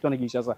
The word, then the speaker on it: Kinshasa: Voilà quartier Kinshasa Kinshasa Kinshasa Kinshasa des parlent de Kissasa Kissas Kinshasa si tu trouves un varo qui dit ne le giflez pas mais n'applaudissez pas pour lui.